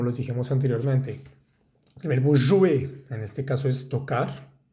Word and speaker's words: jouer: Veamos que todos estos verbos terminan en ER. Grupo 1, no pronunciamos esa R. Encourager, éclater, travailler, jouer. No es jouer, ni travailler, ni éclater.